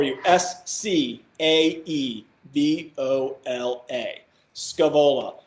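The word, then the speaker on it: Scaevola: SC a the Ola Scoob Ola a couple probably different pronunciations for it I've always put Scoob Ola that's what's in my head so that's what I'm calling it buts Kavala is awesome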